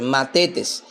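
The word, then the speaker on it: μαθητής: Se escribe m a t h e t e s. Matetes, que significa simplemente un pupilo o un alumno.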